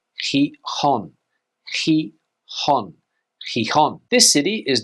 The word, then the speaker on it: Gijón: This city here is not pronounced Gijón. In Spanish, you would say Gijón.